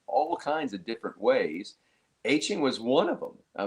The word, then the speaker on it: Etienne: And Clemson put out literally the letters E T N. Etienne.